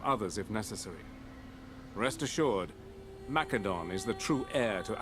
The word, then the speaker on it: Macedon: Rest assured, Macedon is the true heir to Alexander's legacy. It will rise once more. Well, alright, buddy. Alright, he's using the hard C. Macedon.